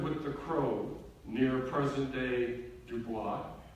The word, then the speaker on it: Dubois: the chrome near present-day Dubois I guess the American pronunciation is boys and then from there